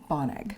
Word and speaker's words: Bonnag: Bonnag.